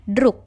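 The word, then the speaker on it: друг: pasangan huruf ketiga yakni huruf g yang dibunyikan k contoh pada kata drug ditulis drug dengan huruf g tapi dibacanya drug dengan huruf k yang artinya Hai pasangan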